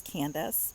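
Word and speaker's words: Candyce: is about two candies i my name is candace but a lot of people call me candy so my name is spelled c-a-n-d-y-c-e um so a lot of people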